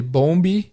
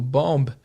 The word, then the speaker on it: bomb: um B A M esse bebê do final do Bomba é mudo você não fala Bomb você fala bom e o som do ó não é som de Ó tem mais um som de ar então a diferença de